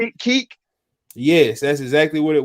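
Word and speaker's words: Kek: up, Grump, because maybe people don't know who Keek is, but you've seen them. Everybody's seen them. It's K-E-K. Pronounce his name again? How you spell it? K-E-K, Keek.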